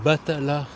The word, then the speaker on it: Batalha: nom de la ville c'est Batala le nom de la ville en prononciation français évidemment voilà comme je te